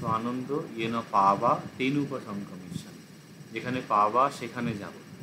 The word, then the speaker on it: পাবা: পাবা তেনুপং কমিশন যেখানে পাবা সেখানে যাব পাবা যে হচ্ছে এই বটা অন্তস্থ ব এইটাই ইদরানিং কালে পাওয়া পুরি বলে না ব যে উচ্চারণ হছে হিন্দি ভাষীদের হিন্দি ভাষীরা ঠিকই বলে বাঙালিরা পাওয়া বানিয়ে দিয়েছে